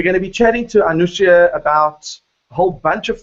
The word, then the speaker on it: Anousheh: Is it Anousheh? Is that the correct pronunciation?